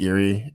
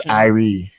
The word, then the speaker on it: Irie: yeah i think um iris pronounced eerie i i heard two you know what i think it was two who kept saying eerie lemon that does not sound appealing does not sound like a business or something tell people how you pronounce irish it's irie i re and why does it